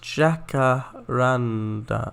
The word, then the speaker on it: jacaranda: little bit um also it's pronounced jackaranda oh jackaranda jacaranda according to them at least oh thank you yes